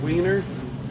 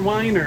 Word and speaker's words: Weiner: I know when I went to middle school, there was a teacher that uh his name was spelled like Mr. Weiner and he said, "It's Mr. Winer."